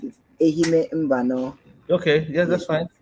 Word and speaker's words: Ehime Mbano: Uh, how will I be able to pronounce it? Ehime Mbano.